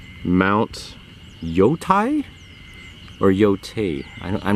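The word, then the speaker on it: Yōtei: It's pronounced Yote.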